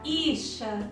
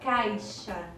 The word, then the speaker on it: caixa: é imperceptível às vezes uma palavra do tipo caixa quase não é pronunciado a letra ir você não disca ficha você diz caixa também em relação ao